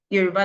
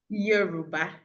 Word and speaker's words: Yoruba: professional teachers from Nigeria to come and teach Yoruba language in various universities in the US.